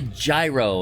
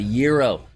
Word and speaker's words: gyro: not not nearly as fatty agree no people pronounce gyro it's not a gyro it's a gyro I know because we have